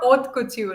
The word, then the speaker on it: haute couture: Um, the art of oat couture. Did I get it right? Yes. A little softer. Oat couture in French.